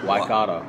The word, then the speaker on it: Waikato: And they're not all that easy to pronounce as well. Waikato. Waikato. Close. Waikato.